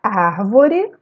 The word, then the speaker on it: árvore: Na palavra árvore, eu separei as sílabas ar-vo-re. A sílaba tônica da palavra árvore é ar.